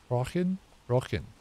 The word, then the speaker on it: Rochen: Rochen. Okay. No CH in Rochen, okay. Just a regular K.